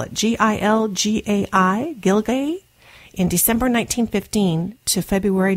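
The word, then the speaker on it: Gilgai: The writer was on board the SS, I'll spell it, G-I-L-G-A-I, Gilgay, in December 1915 to February 1916, traveling from St.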